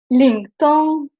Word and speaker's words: Lingtong: Just it's important that it's very flat.